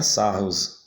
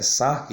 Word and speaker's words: Sarrus: nome dele não é salvos a pronúncia do nome desse matemático francês é saco e então a gente